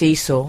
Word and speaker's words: Esau: It's not eyesore, it's Esau.